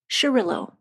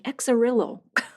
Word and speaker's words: Xarel·lo: Anyway, she says just throw yourself into it and call it Sherillo. For years I've been saying exarillo.